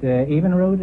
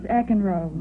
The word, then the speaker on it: Eckenrode: Pat, Evenrode, is that the way you pronounce it? No, it's Eckenrode.